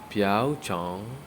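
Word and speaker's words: 瓢虫: Now in the pinyin it is pronounced as piao, piao chong, piao chong, piao chong.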